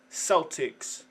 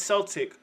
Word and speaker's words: Celtic: 31 minutes ago that's Celtics that's Celtic with a hard initial C not Celtic like the basketball team what is how you